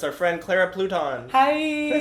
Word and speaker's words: Pluton: It's our friend Clara Pluton. Hi. Did I say it right? Yeah, Not Pluton. No, crouton, futon. Easy. Pluton.